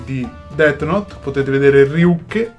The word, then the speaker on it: Ryuk: Potete vedere Ryuke, che si pronuncia con la E finale.